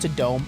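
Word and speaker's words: Tudum: They call it Tadome. That's so stupid. It's spelled Tadum.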